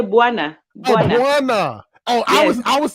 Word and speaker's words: bwana: don't pronounce the W no you do pronounce it you say bwana oh I was I was saying B wanna oh no no no